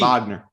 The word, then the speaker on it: Wagner: that's fine Franz Wagner that is with the V Wagner yeah the middle of